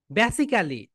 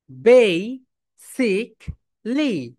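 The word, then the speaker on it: basically: বলতে কোন উচ্চারণ নেই বেসিক্যালি বলতে কোন উচ্চারণ নেই তাহলে তাহলে কি হবে বলতো বেই বল বেই বেই সিক সিক লিপ দাও বেই সিক লি বে সিক লি বেসিকলি বেসিকলি বেসিকলি তুমি অনেক টিভি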